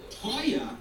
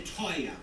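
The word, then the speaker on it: teuer: price bet doesn't mean expensive it means reasonable Toya means expensive everybody say Toya to who can spell it for me raise your hand spell it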